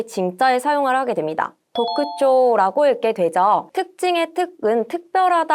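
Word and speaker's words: 特徴: 도크쇼라고 읽게 되죠.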